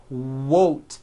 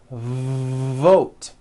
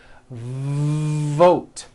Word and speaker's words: vote: sounds for W sounds be careful not to do this the word is not won't its vote every V that you